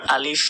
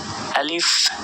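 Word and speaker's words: ألف: উচ্চারণ করে বাংলা প শেষে আলিফ আলিফ বলে আসলে এটা আলিফ আলিফ আর আলিফে কোন টান নেই এটা দ্রুত বলতে হবে আলিফ এখানে দেখুন ক্রস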